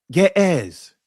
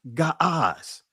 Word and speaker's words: Ge'ez: Ge'ez. Actually, it was it's the proper pronunciation is Ga'az.